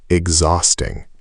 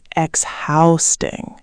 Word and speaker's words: exhausting: Second, exhausting. This one's tricky. Exhausting. The H is silent and the stress is on the second syllable. Exhausting, not exhausting.